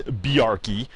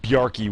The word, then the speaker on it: Bjarkey: Two by the way my Norwegian speaking wife says that the proper pronunciation of his name is Bari uh she says that written Danish and written Norwegian is very similar but it's spoken a little bit differently but uh byy would be the proper pronunciation of uh this guy's name uh he certainly had